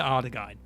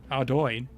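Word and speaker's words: Ardougne: Oriana altar, the one near Ardaghine. Oh no, I've said that wrong as well. Ardoin.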